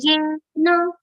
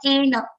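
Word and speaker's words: येन: here santushto yena kenachit santushto yena not ena yena kenachit अनिकेतस्थिरमते Aniketas.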